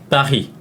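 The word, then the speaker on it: Paris: 파리 한번 찾는데 실제 프랑스 현지에서는 파리를 어떻게 발음하나요 빠히 아 자 여기 뭐 피레스 등 뭐 많이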